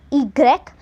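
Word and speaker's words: i grec: the pronunciation of Y and X Y is pronounced as egrek and X is pronounced as X then where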